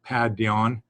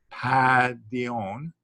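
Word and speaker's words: παιδίον: remember that a pi is a p sound and uh this is an n sound so pad dion but see if you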